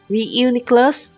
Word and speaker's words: Reuniclus: The it's called Reuniclus, but for some reason I always miss the U and the N arrangement, so I always said Reuniclus.